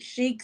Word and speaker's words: Chic: Chic, CHIC, like Chica or Chicago, is for the Mhm.